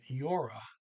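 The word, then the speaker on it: gjorde: command form and then yora that's g-j-o-r-d-e but the d is silent i pronounced it last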